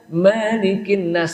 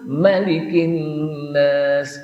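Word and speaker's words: ملك: Kalau dibaca malikin nas salah, enggak ada. Kenapa? Karena enggak ada riwayat yang membacanya panjang, malikin nas. Yang betul malikin nas, karena banyak juga ada orang yang bacanya panjang padahal bacanya pendek.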